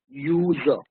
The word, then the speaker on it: user: Even though it starts with a vowel U, but because it sounds like Y double O, user, it begins with a consonant Y sound.